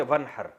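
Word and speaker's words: وانحر: में नहर तो वन असल में था न हर पढ़ा जाता है मिलाकर वन हर तो अलिफ साइलेंट हो जाता है वन हर फसली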